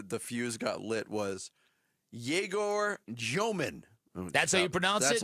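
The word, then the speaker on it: Egor Dëmin: fuse got lit was Jaor Jman. That's how you pronounce it. That's how you pronounce it. Jaorman. Yeah. Rhymes with Abe Froman.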